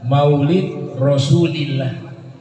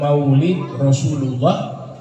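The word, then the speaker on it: مولد رسول الله: kita menyatakan Maulid rasulillah cara baca di dalam bahasa Arab yang benar Maulid rasulillah bukan Maulid Rasulullah bukan Maulid Rasulullah tapi cara bacanya Yang benar Maulid Rasul lillah Maulid rasulillah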